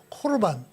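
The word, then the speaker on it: קָרְבָּן: 제가 히브리어도 적어놨는데 히브리어로도 고르바네라고 읽어요. 코르반. 그 다음 요는 헬라어래요. 헬라어도 그냥 코르반입니다.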